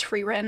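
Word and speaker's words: Frieren: series which is frein I think I've been pronouncing it wrong but I'm pretty sure it's frein and then also she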